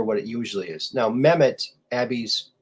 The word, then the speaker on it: Mehmet: it usually is now mehmet abby's says uh m-e-h-m-e-t meh meh met okay so it's like met mets but the site the first t is really an h so met that's how it's spelled yeah so the the